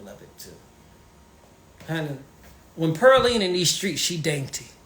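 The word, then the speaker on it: Purleane: Pearline, that's how it's pronounced. Pearline. P-U-R-L-E-A-N-E. It's French.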